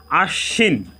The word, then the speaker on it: আশ্বিন: এর উচ্চারণ দুইবার হয়েছে এখানে তালব্য স এর সাথে বফলা সংযুক্ত হওয়ার কারণে তালব্য স এর উচ্চারণ দুইবার হয়েছে তাহলে আমরা শব্দের বানানগত